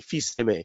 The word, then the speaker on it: Filsaime: what's going on and in French it's fe uh two words f i LS Dash a i m Feast ma uh and feast is Son and M like an Italian Amore uh is is is